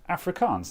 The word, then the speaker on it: Afrikaans: Yeah, Afrikaans, that's how you say that.